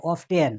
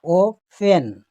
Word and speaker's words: often: আর এখানে দেখেন একটা হাইপেন দিয়ে দেখাচ্ছি যে শব্দের মধ্যে থাকবে কিন্তু কোনো উচ্চারণ নাই, যেমন OFTEN, আমরা অনেকে পড়ে অফ টেন, কিন্তু না, অফ হবে না, ও ফেন।